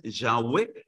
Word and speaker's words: Yahweh: En Jehová, que la mejor pronunciación es Yahweh.